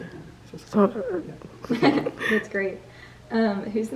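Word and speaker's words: Süskind: Susskind.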